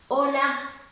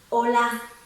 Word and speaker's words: Hola: worry about that because the H in Spanish is silent, so you don't have to pronounce it. You pretend it's not even there, it's just plain and simple, hola.